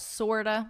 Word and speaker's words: sort of: And in spoken English, you would pronounce these as sorta.